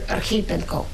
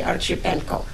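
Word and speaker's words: Archipenko: came from Ukraine and his name is Alexander Areno and most people mispronounce his name and they say archip Peno right here in Denver walking woman 1812 typical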